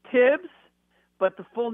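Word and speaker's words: Thibs: everybody says tips but it's spelled with the th so are we doing the silent h thing yeah it's tibs but the full name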